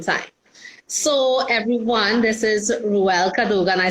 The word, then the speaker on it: Rhuelle Cadogan: So everyone, this is Rhuelle Cadogan.